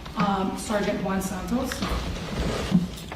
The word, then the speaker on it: Santos: Um, Sergeant, can you please state your name for the record and spell it for the clerk? Sergeant Juan Santos.